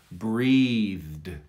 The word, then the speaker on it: breathed: or suggest that you push a lot of air through between the th and the d so they sound so